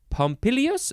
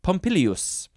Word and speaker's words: Pompilius: Roman King named Numa pompilius oh I said it wrong there's another I in there pompilius pneuma pompilius maybe uh